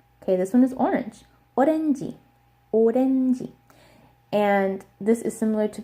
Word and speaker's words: 오렌지: 오렌지. And this is similar to page because this ends with a J sound. They say G, not J. So it's not orange, it's 오렌지.